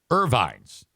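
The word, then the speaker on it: Ervines: Irvines. They don't spell it I-R. It's E-R Vines.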